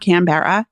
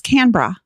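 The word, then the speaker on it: Canberra: b r r a canar yeah no it's not canara it's canra CRA what yeah okay c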